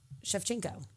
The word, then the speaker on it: Shevchenko: You said chef? Shevchenko. That's how you say it.